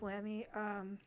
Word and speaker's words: Lambie: I know it's spelled Lambie, but this is Lammy.